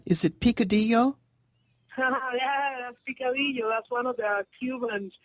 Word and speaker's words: picadillo: and it's okay if you laugh at my pronunciations. My Spanish is terrible. You've got, is it picadillo? Yeah, that's picadillo.